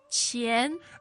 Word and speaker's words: 钱: So the question was, 要多少钱？要多少钱 Good. Now, money is, of course, 钱 and that's the second tone, right?